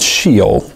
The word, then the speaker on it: Sheol: In the Psalms, there's this reference to this place called Sheol, which is spelled S-H-E-O-L.